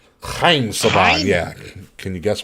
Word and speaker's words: Haim: Haim Saban, or Chaim Saban is how you say his name. Chaim Saban, Chaim?